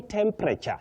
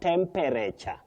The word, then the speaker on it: temperature: are catapult not catapult result not result and not result you say silhouette silhouette then lastly Zaki's collar you say temperature not temperature you do some something